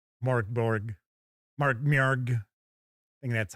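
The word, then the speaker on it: Mörk Borg: Mark Morg. I think that's how it's really supposed to be. I think it's supposed to be M Borg, but even the designers of the game don't pronounce it that way.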